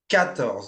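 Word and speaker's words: quatorze: Again, make sure you don't pronounce the qu u like a qu, right? It's cattle. Okay? Not qu.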